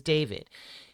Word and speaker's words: D4vd: Okay, his name is David. Um, it's spelled D, the number four, V D, and that's how he spells David.